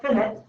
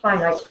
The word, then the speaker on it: finite: here is finite i know it looks like finite because we say infinite but it's pronounced finite meaning it doesn't have the dot dot dot